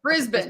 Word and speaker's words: Brisbane: So I see people Brisbane. Brisbane. Okay. Brisbane. Heavy on the first.